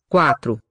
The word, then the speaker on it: quatro: Nice and long first syllable. Quatro. So I think the T belongs to the second syllable, not to the first. Not quatro, but quatro.